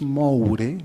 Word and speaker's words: Moure: en buin Manuel Magallanes moure que así se pronuncia en Chile al menos era el